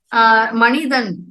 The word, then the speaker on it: Manidhan: So, Manidan means human. Manidhan. Okay. Yeah, Manidan. Right, Manidhan. Manidan. But, it ends in a syllable called Manidan.